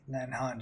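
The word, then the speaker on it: Leannán: isn't nearly as benign the lianghan today pronounced lan han she is a beautiful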